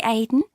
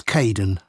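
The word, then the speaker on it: Kaeden: Hi Aiden. Uh it's Kaden.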